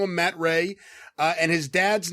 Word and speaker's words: Rhea: His name is Matt Ray, and I hope I'm pronouncing that correctly. It's R-H-E-A, so I'm pronouncing it like Shay, which is the same spelling but with an S.